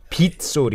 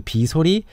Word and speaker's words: 빗소리: But Korean people started pronouncing 비소리, 빗소리. 빗소리. So 빗소리 is more common as opposed to 비소리.